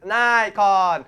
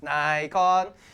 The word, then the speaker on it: Nikon: or Nikon yeah but it's Japanese for goodness sake people it's Nikon yeah what whatever floats your boat yeah yeah anyway we're Asians so it's Nikon so anyway this is